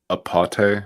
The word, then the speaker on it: Apate: Uh, probably not pronouncing it correctly. Apate. It's like UP O.